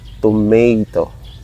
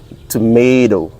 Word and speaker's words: tomato: they would say, or they pronounce exact like this, tomato, tomato. So the T at the ending part of the toe become dough, D, tomato. But my friend in the United Kingdom, she's a British, she taught me to pronounce this as tomato, tomato, okay? Very enunciated, the T, tomato.